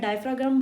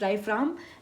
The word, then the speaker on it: diaphragm: डायफ्राम एंड rib cage, मैं डायफ्राग्राम बोलती हूँ प्रोनाउंसिएशन में, लेकिन इट्स डायफ्राम एंड rib cage दोनों मूव करते हैं ड्यूरिंग इनहेलेशन।